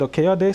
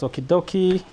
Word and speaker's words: Okeyode: So my name is Okeyode, so do not feel any pressure to pronounce my last name. I've heard it pronounced as Okidoki, Okidoi.